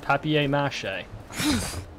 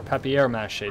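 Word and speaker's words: papier-mâché: did find out that in England that is actually how it's pronounced papier-mache or peppy airmass che depending on who you are okay let's take a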